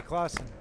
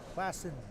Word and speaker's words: Klassen: Ooh, nice split by Sarah Clausen. What did Jordan Jung have? Do they pronounce it Clausen or Klassen? Klassen. Klassen? Yes.